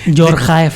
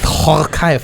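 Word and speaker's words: Djorkaeff: Jorkaev. Horkaev bahasanya. The Jor. Jadi gini. Iya. DJ dibacanya tuh Khor.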